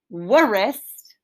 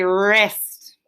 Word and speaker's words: wrist: they're gonna say again i don't want us to think of w as a silent letter it's that w and the r coming together to say er not worrist they're coming together to say wrist we have this as